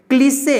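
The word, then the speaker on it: cliché: ठीक है, यहाँ पे क्लिसे, यहाँ पे ई का उच्चारण ए हो गया है।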